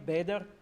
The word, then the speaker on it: Bader: a way for people to know how to pronounce my name Bader so I'm a big fan of Linux I've